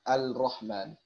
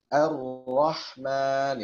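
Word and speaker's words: الرحمن: Sebagian masih ada yang terkecoh bacanya Al-Rahman, tapi sembunyi-sembunyi bacanya, artinya suaranya nggak mau dikerasin ya. Tapi kalau kita perhatikan gerak bibirnya ini cenderung masih terucap lamnya Ar-Rah, masih ada terucap lamnya.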